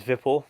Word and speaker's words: Vipul: first of all my name is vipul the VIP Alba Sonia is quite